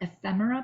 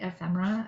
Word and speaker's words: ephemera: stampin up does offer ephemera packs that's how you say it ephemera i've heard people really struggle with that word ephemera i've done a